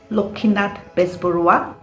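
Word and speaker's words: Lakshminath Bezbaroa: not being of course asami's people pronounce this name as lokhinat bisburuwa but we will go with lakshmi not bisporuwa lokkinat bisburva's work started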